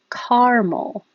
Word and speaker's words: caramel: a sweet food but it can be pronounced two totally different ways so you can say two syllables caramel so it sounds the